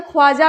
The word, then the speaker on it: ख्वाजा: खाजा, अब कई लोग इसे ख्वाजा भी कहते हैं, इसे क्या कहेंगे, ख्वाजा भी कह लीजिए, कोई चक्कर नहीं है, ख्वाजा।